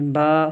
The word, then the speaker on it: ب: لہجے میں پڑھنا ہے۔ جس طرح اردو میں پڑھا جاتا ہے بے تے سے، اس طرح ہم نہیں پڑھیں گے اس کو توئے زوئے جیسے پڑھتے ہیں اردو میں، یہ عربی میں پڑھا جائے گا با تا سا، اسی طرح طا ضا،